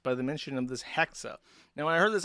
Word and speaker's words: Hexa: Um, however, her name is Hexa, as in like hexagon, and she's on hiatus.